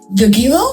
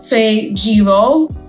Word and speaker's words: Fajiro: Was that Gagiro? No, it's Fajiro. Fajiro? I'm like, no, like that's not how you say my name.